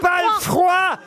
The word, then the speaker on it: palefroi: Est-ce qu'après palefr, il y a 2 syllabes ou une? Une seule. Un palefrou. Palefrein.